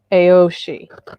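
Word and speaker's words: Aos Sí: The Aoshi, which the Sidhe, in his videos, there's an A and an O word preceding it, and he pronounces the whole thing Aoshi.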